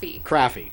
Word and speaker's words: Craffey: Craffey.